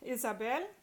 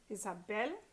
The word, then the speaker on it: Isabel: Isabel ends in a consonant other than N or S. Isabel, last syllable.